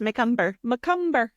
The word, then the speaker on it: Macomber: Having just recently listened to our episodes previous, I'm glad we know how to pronounce that now. Yes, Macomber.